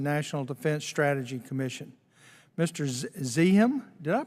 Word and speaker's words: Zakheim: Zakheim, did I pronounce that correctly? It's Zakheim, sir, but I'll respond to anything.